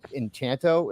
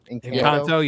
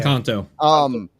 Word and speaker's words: Encanto: He really doesn't have any interest in anything Disney since Enchanto. Is that how you pronounce that? Encanto, yeah. Encanto.